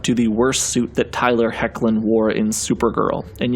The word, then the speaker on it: Tyler Hoechlin: we next jump to the worst suit that Tyler hoechlin wore in Super Girl and yes that is how you pronounce his name Tyler hoechlin this suit is a clear take and draws